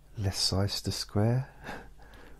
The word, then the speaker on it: Leicester Square: Leicester Square instead of Leicester Square.